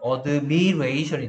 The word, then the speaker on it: admiration: 여기에 admire인데 이게 이렇게 명사가 되면 admiration이 됩니다. admiration. 이 발음으로 바뀌게 돼요.